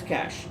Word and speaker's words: cache: so cash now so this word is pronounced as cash so whenever you're in